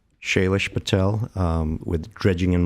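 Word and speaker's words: Shailesh: Shayish Patel. Spell it for you.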